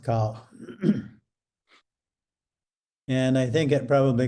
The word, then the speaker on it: 考: It usually doesn't mean much, but it's pronounced cow.